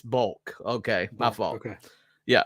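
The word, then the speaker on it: Boelcke: His name was Oswald Bokel, I think. I think that's how you pronounce it. I was trying to figure out how to pronounce that. And that's bulk. It's bulk.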